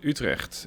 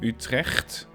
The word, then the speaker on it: Utrecht: Dutch or Belgian, because the G sound from Utrecht, that's something that most nationalities, most languages don't have. It's very hard to pronounce, and it is also present in my own name.